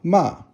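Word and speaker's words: 吗: Now, ma, with the ko by it, just means a question. So it's neutral tone.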